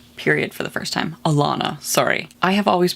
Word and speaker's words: Alanna: father figures okay so we've just got to elena having her period for the first time alana sorry i have always pronounced it atlanta also her name she's going